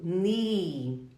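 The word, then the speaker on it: knee: nikkane quem é então todas as vezes que você quiser falar joelho NI NI todas essas palavras assim como não nós pronunciamos somente o n o k ele é uma letra silenciosa Porque eles estão juntinhos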